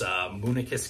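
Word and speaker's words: Moonakis: Next, over in Falmouth, and I used to get the name wrong on this, which is kind of embarrassed, but it's Munichus Cafe.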